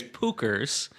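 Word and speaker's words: Puchers: I was just going to say it's Pookers and it's P U C H E R S.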